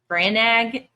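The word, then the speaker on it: Brannagh: Branag. I thought it was Branagh, but we looked at the pronunciation. It's Branag. If that's correct, how SJM wants it pronounced.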